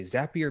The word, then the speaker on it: Zapier: I heard some recently zapier makes you happier everybody doesn't know if it's zapier zapier sappy or rhymes with happier is what they said